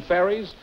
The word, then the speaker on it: Ferris: Is that the way you pronounce it? Ferris is the name.